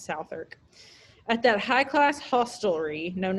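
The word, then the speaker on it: Southwark: in this company in south work it's probably pronounced south irk at that high-class hostelry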